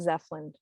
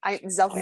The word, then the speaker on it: Zelfand: And I'll say my name is not Zeppelin. Zelfand. Z elf, like a Christmas elf, and like yes and Zelfand.